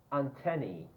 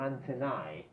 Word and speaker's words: antennae: Pronunciation. Antennae or antennae. Some Australian people say antennae. If you go to Australia, antennae. So antennae, antennae, antennae. The standard one is antennae. All right, but in the United States, antennae.